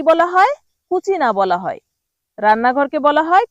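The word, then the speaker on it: cucina: কুচিনা বলা হয়।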